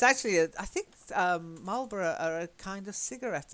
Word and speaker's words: Marlboro: set place names can be very difficult to pronounce because it looks like bar rough or something but we say borough Marlboro okay very good but the same as small